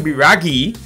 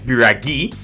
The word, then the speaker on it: Biraghi: bring an igor custom biraghi not shout out to abhishek bista who let me know in the comments that it's biragi always let me know